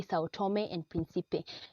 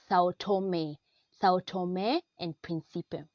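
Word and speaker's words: São Tomé and Príncipe: A lot of people would say Sao Tome and Principe. You should stress the last syllable on them after the M. It's Sao Tome and Principe.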